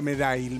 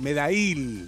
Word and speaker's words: Medail: No, Medail, Medail. Lo aprendiste. Me acento en la I.